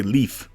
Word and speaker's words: Leif: wall who's next Leif the game calls him life which is amusing to me I guess some parts of the Netherlands pronounce it that way but they seem to be in the vast minority most say leaf or Leaf perhaps it's meant to be